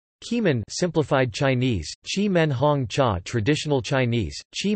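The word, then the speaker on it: Qimen: of the name of the nearby town chiman pronounced chi men the tea growing region lies between the yellow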